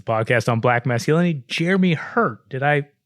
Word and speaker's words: Herte: It's a podcast on Black masculinity, Jeremy Hurt. Did I pronounce that correctly? That's exactly right. Yep, silent E. Silent E on that.